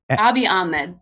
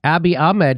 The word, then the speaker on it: Abiy Ahmed: Abiy Ahmed. Abiy Ahmed.